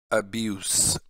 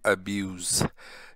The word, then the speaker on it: abuse: पहले नाउन की प्रोनाउंसिएशन करते हैं, नाउन की प्रोनाउंसिएशन हम करते हैं अब्यूस, ये स पे ख़त्म हो जाता है, अब्यूस। और ये चूंकि वर्ब है तो वर्ब की ये प्रोनाउंसिएशन है अब्यूज, ये ज पे खत्म हो जाता है अब्यूज, ठीक है।